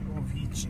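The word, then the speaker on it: Vichy: O Avici Ovici, né, lá, né? Essa é a pronúncia correta.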